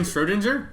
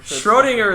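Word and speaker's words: Schrödinger: that irwin schrodinger yeah why are you pronouncing like that though because that's the correct way to say i mean schroedinger is so much better though no he's austrian you're like americanizing his name so what yeah i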